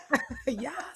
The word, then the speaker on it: Yaa: I pronounced your name right. I meant to ask you. Yes, you did pronounce it right. Yes. It's so cool cuz I feel like I'm calling you an a star when I say your name.